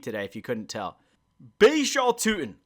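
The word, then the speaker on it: Bhayshul Tuten: Tuttle. I can't really speak today if you couldn't tell. Baishal Tutin. I don't know why I pronounced his name wrong the first time, but Baishal Tutin.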